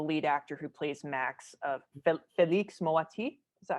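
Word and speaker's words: Félix Moati: We have to talk about the lead actor who plays Max, Felix Moati.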